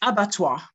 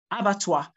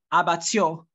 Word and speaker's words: abattoir: the word okay it's abattoir abattoir not about your it's the stress is placed on the first syllable okay foreign all right